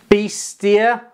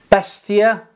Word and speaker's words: Beissier: help me pronounce this beastia can you see it can you yeah there you go Besa there's no t in it by wherever if I